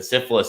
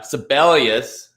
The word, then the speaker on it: Sibelius: Yeah, syphilis, this is it. Syphilis is up. Thanks to Alterman, I will never pronounce this horse's name correctly because that's what I think. But yeah, Sibelius.